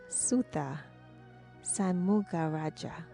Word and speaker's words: Sutha Shanmugarajah: Please help me welcome Sutha Shanmugarajah.